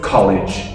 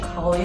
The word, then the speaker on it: college: College. College.